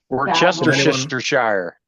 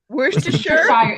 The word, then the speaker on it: Worcestershire: advise people to forget how it's spelled and just learn Worcestershire.